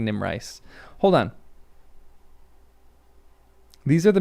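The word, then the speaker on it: Erid Nimrais: First pronunciation was correct. Erid. Nimice. Nimrace. Nim rice. I think Nim rice.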